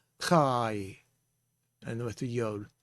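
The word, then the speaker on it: חי: Let's look at the word chai. We have a patak underneath the hay, so it has an A sound. Chai. And with the Yod, chai.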